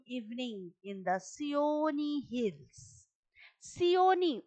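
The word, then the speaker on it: Seeonee: Sioni, উচ্চারণটা একটু খেয়াল করো তোমরা, Sioni Hills।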